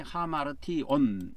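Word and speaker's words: ἁμαρτιῶν: 그래서 에이스 그다음에 아페신 그다음에 하마르티온 이렇게 되어 있습니다. 헬라에는 요거를 조금 더 키워 줘 볼까요? 아이에이스 앞에 신 하마르 역거지가 하마르고 여기서 티온 그렇게 발음이 됩니다.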